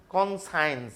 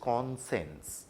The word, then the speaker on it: conscience: এই শব্দটা হিজ কনসেন্স, আমরা অনেকেই এটাকে তোমাদের মধ্যে অনেকেই এই শব্দটাকে একটা ভুল উচ্চারণ করে, যেহেতু সায়েন্স আছে এর ভেতরে কনসায়েন্স বলে। নো, ইট ইজ কনসেন্স।